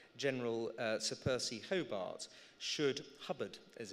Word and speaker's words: Hobart: why the Maverick General Sir Percy Hobart should Hubbard as it's pronounced should not be employed in a senior